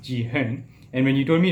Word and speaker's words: Jihan: Okay, the argument was simply that when you said that somebody calls you when people call you Jihan, and when your actual name is pronounced Ji-hen, and when you told